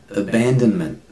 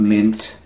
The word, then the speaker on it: abandonment: It's like It's not n, it's not g, it's Abandonment. Abandonment. Not meant. Men.